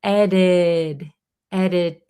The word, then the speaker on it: edited: pretty funny sentence because edited when we pronounce it in American native speed English, this T in the middle becomes a flap T.